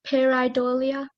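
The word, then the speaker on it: pareidolia: is peridolia parody parody am I saying that correctly pear idolia sounds right may I have a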